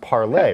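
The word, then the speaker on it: Parler: i'm saying it right it looks like parlor but i think it's supposed to be pronounced parlay right yeah there's some dispute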